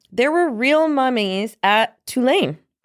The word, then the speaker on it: Tulane: There were real mummies at Tulane. Is that how we pronounce the college? Yes. Right, Tulane? Yeah, real, not haunted.